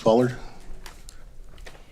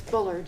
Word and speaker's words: Bullard: Ballard? Am I pronouncing that correctly, by the way? No, it's Bullard.